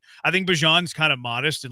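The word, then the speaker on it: Bijan: No, I mean I just think Bejon's kind of modest and like I just said it wrong. Bjon. I think Bjon's kind of modest and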